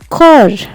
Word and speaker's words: Chor: In the German language, the words which normally start with the letter C is pronounced like the letter K. Here we have the word Chor.